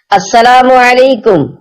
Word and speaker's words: السلام علیکم: لے۔ 11، سلام اور جواب سلام کا درست تلفظ یاد فرما لیجئے۔ پہلے میں کہتا ہوں، آپ سن کر دہرائیے۔ السلام علیکم، اب پہلے میں جواب سناتا ہوں، پھر آپ